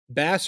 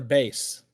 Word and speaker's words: bass: Bass or base? Bass. It's pronounced bass, Gabe.